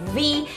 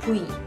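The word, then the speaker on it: 뷔: It is easier to say V, but in Korean we don't have the sound V, so we say Bui, Bui, Bui, Bui, Bui.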